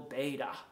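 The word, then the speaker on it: Bede: people by the venerable beta some people might pronounce that beed b-e-d-e it's a wonderful wonderful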